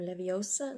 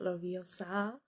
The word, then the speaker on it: Leviosa: You've got Hermione, and of course she's doing Wingardium Leviosa, not Loviosa, or whatever.